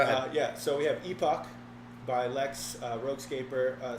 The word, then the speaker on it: Epoch: guys over at NGC gamesepic Epoch Epoch it's pronounced Epoch something like that it's a working